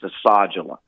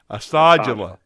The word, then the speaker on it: Asadullah: Think about massage and take off the A. It's Asadullah. Asadullah. Asadullah.